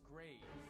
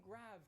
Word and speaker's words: grave: Well, the answer is grave. Or rather, grave, as it would have been pronounced in the original French.